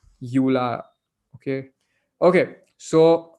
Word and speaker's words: EULA: EULA is spelled as EULA, pronounced as EULA.